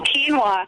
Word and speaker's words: quinoa: Was it peanut butter, ostrich eggs, quinoa? Is that how you pronounce that? Oh, quinoa.